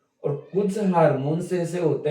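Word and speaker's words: hormones: हार्मोन देखो सभी हम इसको हार्मोन्स बोलते हैं, यदि इसका शुद्ध उच्चारण करें तो हॉर्मोन्स होता है, हॉर्मोन्स।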